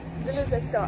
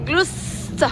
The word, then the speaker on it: Gloucester: Comment tu prononces ça? Gloucester. Non. C'est Gloucester.